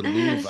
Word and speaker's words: Louvre: Is it Louvre or Louvre? I never know. The Louvre. How to Louvre. Yeah, I The think Louvre. R-E is silent.